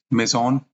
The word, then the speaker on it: Maison: of the project is maon m a i s o n it's a French word that means house so I would like to pronounce it in that way only all right so let's